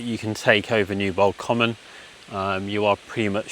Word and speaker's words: Comyn: Um Newbold Common, the common element is spelt c o m y n. Um my partner pointed out to me over the weekend that that's quite an unusual spelling.